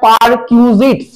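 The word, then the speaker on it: perquisites: যখন আসবে এটা জানার আগে তোকে জানতে হবে পারকিউজিটস পার কিউজিস কি বললাম কথাটা বল উচ্চারণ করার কিউজিস পি ই আর পারqউ কিউ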